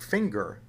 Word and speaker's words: finger: tell you the answer when a word ends in nger and it's derived from a verb that ends in mg then you get a soft g like singer but when the word that ends in nger is not derived from a verb that ends in ng then you get either a hard g like finger or a kind of medium g like plunger or danger now when you get